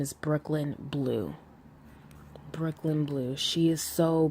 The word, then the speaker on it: Breukelen Bleu: it's her page is spelled b r e u k e l n b l e u Brooklyn blue so anyway let me